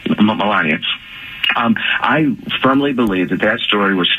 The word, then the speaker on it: Melania: Trump's wife's name how do you say it Melania Melania um I firmly believe that that story was